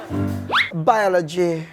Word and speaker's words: biology: A biology yang ditekan O-nya. Biology itu B. Itu B. Yang O-nya biology.